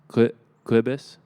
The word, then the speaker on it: Cobus: And then, so there's a popular YouTube drummer, Cobus. Yes. Known as Cobus. How you say his name is Clibus.